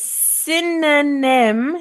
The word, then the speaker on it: synonym: we said before is synonym sin no name is very difficult to pronounce no not only that but the word sin aa-men so this Oh doesn't sound like an O synonym in in in